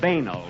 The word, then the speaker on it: banal: And we pronounced it banal, if you don't mind.